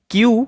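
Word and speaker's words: queue: এখানে কিউ অর্থাৎ শুধুমাত্র কিউ এর উচ্চারণটা হয়। বাকি যে লেটারগুলো রয়েছে সেগুলো সব সাইলেন্ট।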